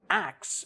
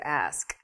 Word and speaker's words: ask: lemmy i mean right but when you say acts it's just totally wrong well it's reversing the the consonants in the word ask right it's not faster you're not making it quicker you're not slurring or making you know putting it into one little like fluid blob it's just you just switch the two uh yeah syllables similarly i